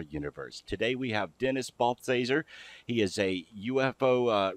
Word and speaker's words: Balthaser: last name again because I don't want to mispronounce it it's baser that's good well I want to talk with